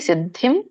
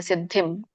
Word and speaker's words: ಸಿದ್ಧಿಂ: ನಿಷ್ಠಾಜ್ಞಾನಸ್ಯಯಾಪರ ಹರೇ ಕೃಷ್ಣ ಇದರ ಒಂದು ಉಚ್ಚಾರಣೆ ಸಿದ್ಧಿಂ ದಕ್ಕೆ ದೊಡ್ಡ ದ ವತ್ತಿದೆ ಗಮನಿಸಿ ಸಿದ್ಧಿಂ ಇಲ್ಲಿ ಮುಂದೆ ಅನುಸ್ವಾರ ಸೊನ್ನೆ ಮುಂದೆ ಪವತ್ತಿದೆ ಸಾರಿ ಪದೆ ಸೋ ಪ ವರ್ಗದಲ್ಲಿ ಬರೋದ್ರಿಂದ ಮ ಉಚ್ಚಾರಣೆ ಆಗುತ್ತೆ ಸಿದ್ಧಿಂ ಪ ಮದ್ಯಂ ಪ್ರಾಪ್ತೋ ದೀರ್ಘ